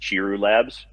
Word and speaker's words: Chiru Labs: uh lab that runs it i believe it's pronounced chiru labs dan is that correct yes sir yes okay